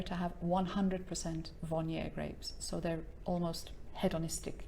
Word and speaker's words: Viognier: lovely white wine called vanier you don't pronounce the r at the end so it's and yes